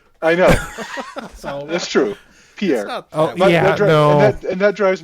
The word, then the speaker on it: Pierre: goes she says it's named after a French guy named Pierre. And I'm like right. And it's pronounced pier.